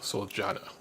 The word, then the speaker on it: Soljana: Oh, as Soljana has said, it is pronounced Soljana.